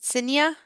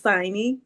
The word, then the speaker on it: Signy: Is it Sinya? Let me know if I'm not pronouncing Yes. correct. Oh, thank you. Good try. It's Signy.